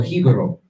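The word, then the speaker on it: jíbaro: Like, and what you're gonna see is that there's certain things, like, for example, Hibaro, you get, or Hibaro is the real pronunciation of it.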